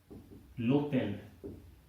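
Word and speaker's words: l'hôtel: vowel वाला होगा तो बहुत ज्यादा नहीं है, लोटेल, एच साइलेंट, आश साइलेंट, अल्फाबेट इज आश, अभी हमने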